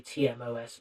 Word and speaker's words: TMOS: I'm just pronouncing it Timos because I feel like that's the natural way of pronouncing it. Maybe I should just say TMOS Monstrosity.